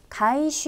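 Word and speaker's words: 回収: 발음 은 " 카이슈 " 입니다 .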